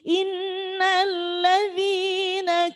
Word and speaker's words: إن الذين: Jadi innalladzina kafaru jadi karena memang bacanya cuma 1 alif, jangan sampai lebih.